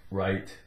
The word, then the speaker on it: write: write a note whatever w r i t take off the w r Rite right okay then we have